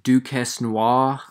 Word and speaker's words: Duquesnoy: have Tom fire kid Duke Heston wah I'm pretty sure that's how you pronounce it because he's French versus Terry on flash